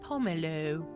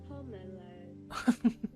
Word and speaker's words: pomelo: That's the American pronunciation. The British pronunciation, because British pronunciation is always so extra, would be Pomelo. pomelo. Pomelo.